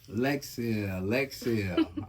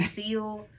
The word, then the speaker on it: Lexcelle: Lexcelle. Already. Am I saying it right? Yes, thank Okay, you. good. I done heard some crazy stuff, like seal. I'm like, it says cell. Yeah. CELL, like. Yeah.